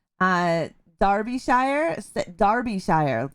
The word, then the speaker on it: Derbyshire: it's it's spelled uh darby shire darby shire say it like that not derbyshire even though it has an e in it it's pronounced with an a darby shire yeah i